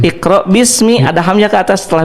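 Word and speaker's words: بسم: E jadi hamzah wasal itu hamzah yang memang harus ada dalam tulisan hanya tidak diucapkan seperti bismi ini.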